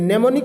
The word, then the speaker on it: mnemonic: हैं दोस्तों, उसमें भी MNEMONIC में नेमोनिक कोड जो होता है दोस्तों, उसमें भी M साइलेंट होता है।